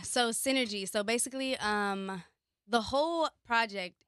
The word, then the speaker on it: Sinnergy: You spell it differently. So kind of let's start off there. Why is it spelled S-I-N-N-R-G? Sinnergy. Sinnergy.